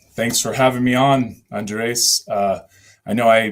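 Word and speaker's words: Andrés: for having me on Andres uh I know I mispronounced your name last time when we were you said it right I thought I said Andreas uh last time that's still right okay okay cool but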